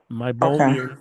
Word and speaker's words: meibomian: It's spelled MEI B as in boy, O M as in Mary, IAN, meibomian gland.